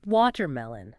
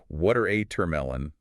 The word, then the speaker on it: watermelon: It's got three syllables. Needs a clean rhythm. Make sure the stress is right up front. Water amelon, not watermelon.